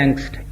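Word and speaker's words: Angst: German भाषा में एक शब्द है इसको कहते हैं एंगस्ट ए एन जी एस टी आ वहां जर्मन में से आ प्रोनाउंस करेंगे वह ऐसी स्थिति है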